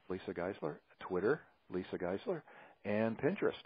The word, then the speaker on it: Giesler: name is a Geisler it's geese like Geisler okay that's why I